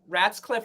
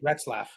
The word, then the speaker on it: Retzlaff: And and our episode with Peter, I know Ratscliffe. I know I'm not pronouncing his name properly. Retzlaff.